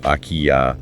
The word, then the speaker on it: akiya: Those are the abandoned homes pronounced IKEA, or older traditional houses.